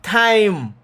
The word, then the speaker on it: time: The only next trick about this thing is that the E is silent. What me mean by it silent? Mean say you're not going to hear it. If I go silent, you don't hear me.